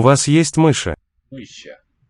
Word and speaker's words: мыши: У вас есть мыши. У вас есть мыши? Мыши. Lowering of the final vowel there.